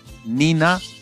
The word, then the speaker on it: nina: They are accented on the penultimate syllable. For example, nina, which is fire, wawa, baby, and yaku, which is water.